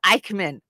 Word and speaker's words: Eichmann: Pronounced Eichmann. Eichmann. It's not with an R, it's Hike.